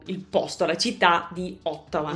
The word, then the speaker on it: Ottawa: posto, la città di Ottawa. La O si pronuncia così, la T così, la A così, eccetera eccetera.